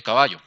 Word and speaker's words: caballo: Entonces, caballo tiene tres sílabas. 1, 2, 3, por lo tanto tiene tres sílabas, por lo tanto es trisílaba. Última, penúltima y antepenúltima, ¿cierto? Última, penúltima y antepenúltima. El acento lo lleva en caballo. Entonces aquí, lo que está en negrito, lleva el acento. Su sílaba tónica es en la penúltima sílaba.